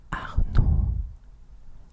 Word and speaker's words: Arnaud: So you don't pronounce the D. So you would say something like Arnaud. Arnaud, yeah. Repeat after me. Arnaud.